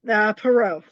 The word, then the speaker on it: Perreault: Perot.